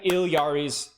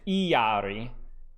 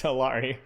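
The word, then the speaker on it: Illari: So anyway, if it's Spanish, it's Iyari. If you're a white boy like me, it's Hilari, but it's technically Iliari.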